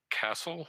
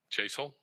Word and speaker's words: Chasel: or pronounce this correctly, but Castle or Chassel? I'm sorry, Chasel.